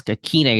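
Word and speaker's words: Ikhine: I think Nick Westbrook, I think it's Akine is how you pronounce it.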